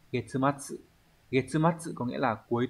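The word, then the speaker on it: 月末: À, chữ nguyệt có cách đọc là gatsu và getsu, nhưng mà trong trường hợp ghép âm ấy nó đọc là getsu.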